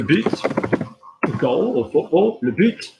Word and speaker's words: but: If you've got le but, goal or football, le but, you're going to pronounce the T, okay?